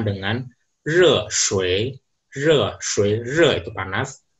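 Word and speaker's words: 热水: Kalau air panas di bahasa Mandarin biasanya diucapkan dengan re shui, re shui, re itu panas, shui air, re shui.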